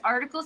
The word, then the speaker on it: Artikal: can find us anywhere it's article sound system but it's spelled funny so pay attention a r